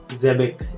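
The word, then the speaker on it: Xebec: Jebic. This is how we pronounce his name, who is also Black Wade's father.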